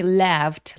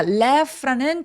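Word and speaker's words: laughed: 자, left라는 gh는 f로 발음하죠. left. left left. 아, 진짜 영어가 스펠링대로 발음 안 되는게 참 우리 논리적인 한국어를 말하는 우리나라 사람들 입장에서는 참 별로인 거 같아요. 그죠? 그래도 어쩔 수 없죠. 예. 발음하는게 지맘대로라서 발음 기호를 찾아보시는게 우리의 정신 건강에 좋습니다. 자, left loudly left 할 때 요게 f 발음이기 때문에 요도 통째로 어떻게 발음해야 돼요?로 로 발음해야 돼요. left 길게 발음합니다.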